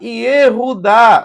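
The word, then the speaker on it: יהודה: Como que se escreve Judá? Yehudá, ó, é assim, olha.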